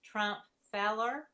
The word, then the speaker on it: Trumpfheller: my youtube channel but my last name is pronounced trump feller so it's a feller